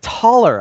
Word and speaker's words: Thaler: Yorvid is there, so all the Thaler is there. Thaler is always a good laugh. It's actually pronounced taller, I've heard. Yeah. In Polish it's talar, so it's easier for me because I read them in Polish originally.